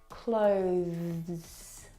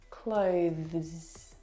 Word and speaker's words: clothes: through your teeth now the th sound is very very soft it is definitely still there it needs to sound